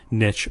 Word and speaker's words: niche: services for uh audiences Niche or Niche if you will I I will because that's the right way to say it tcoop in public beta